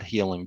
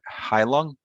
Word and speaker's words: Heilung: at my fingertips and hai lung i hope i'm pronouncing that right right not healing but hai lung they're not they're an